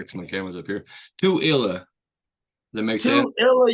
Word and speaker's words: Tooele: Tooele, Utah. Tooele. So like do like the number two and then Illa. Tooele. I need to look up here because my camera's up here. Tooele.